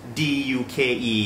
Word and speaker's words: ดยุค: ใ ค ร อ่ า น ว่ า ด า ยุ ก ด า ยุ ก ด า ยุ ก